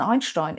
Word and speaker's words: Einstein: Most importantly, the German ST is not pronounced st as you would in English, for example in first or start. The ST in Einstein is pronounced st, Einstein.